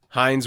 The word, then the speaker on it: Hines: excited about this one Hines Ward Mr Hines Ward which every time I hear his name makes me think of catchup even though it's spelled completely different it is yeah you